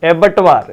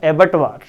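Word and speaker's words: abattoir: एबर्ट एबर्ट एबर्ट वार इसका correct pronunciation होता है एबर्ट वार।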